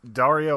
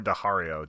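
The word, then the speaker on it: Daario: Yeah, it's Dario or Dahario, depending on how you pronounce it.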